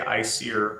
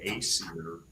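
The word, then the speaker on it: Æsir: So no, if you were going phonetically in American English, it should be acier. But in um old Norse pronunciation's all speculative, but I think that the best we have to go on is Icelandic pronunciation. And the Ae is pronounced like a I. It's pronounced I.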